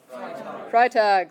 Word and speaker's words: Freitag: look at it carefully which one you're gonna pronounce the i how you gonna say it freitag literally free day would